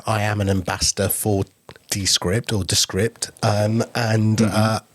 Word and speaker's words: Descript: uh talking about AI as we were earlier descript or rather descript which is the correct way of pronouncing them um they have been adding more